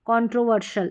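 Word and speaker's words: controversial: और ये है कंट्रोवर्शियल है, एस है ना, ये इस SIAL, ये कॉम्बिनेशन को शल पढ़ेंगे, शियल नहीं पढ़ना है, कंट्रोवर्शियल इस तरीके से।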